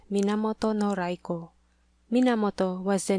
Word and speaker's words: Raiko: Raiko is the Chinese pronunciation and Yorimitsu the Japanese rendering.